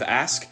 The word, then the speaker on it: ask: people especially African-Americans say ax instead of ask well it's often maligned as a simple mispronunciation of ask it actually has a